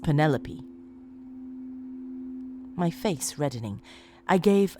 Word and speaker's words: Penelope: pronouncing her name right do you realize that you're saying penny like the pasta and lope like a dog running across a field pentelope he gave me